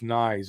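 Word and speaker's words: Nieto: It's not Nees, it's Nyes, I think. But yeah. Rhymes with fries.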